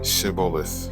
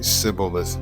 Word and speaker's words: Shibboleth: If he said, "No," then they would say to him, "Then say, Shibboleth." And he would say, Sibboleth, for he could not pronounce it right.